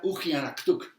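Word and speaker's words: uggianaqtuq: La palabra significa extraño y se pronuncia Ujianaktuk.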